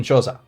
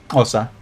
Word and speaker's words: Xhosa: Yeah, I am definitely not good at pronouncing click sounds. Yeah, I think the noise gate on the microphone doesn't allow the click sound. So Osa. It'll probably just say Osa. But that's why I say Xhosa instead. Like that's kind of how it's spelled in English, Xhosa.